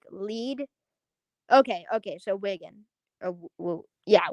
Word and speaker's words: Wigan: say it it's like lead okay okay so wiggin yeah wiggin okay cool um hold up one moment i'm